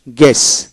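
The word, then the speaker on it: guess: তারপর আসেন গেস, গেস জি ই এস, IPS sound হলো জি ই এস, গেস মানে জি ই এস, একটা এস উচ্চারিত হবে, ইউ বাদ যাবে।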